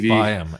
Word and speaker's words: Byam: It's Byam, as in Byam while you can.